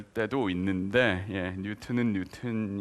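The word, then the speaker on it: Newton: 있습니다 그거 누구가 책임자인 지 모르겠는데 재발을 고쳐주세요 뉴턴 이라고 한 것은 예를 들어서 미국의 옛날 존슨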